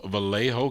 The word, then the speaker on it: Vallejo: group they're out of uh I don't I pronounce this read is it valo v a l l a ho o Vallejo California and uh they were they were first